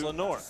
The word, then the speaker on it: Lenord: The D is silent. It's Lenord. Do not call him Leonard.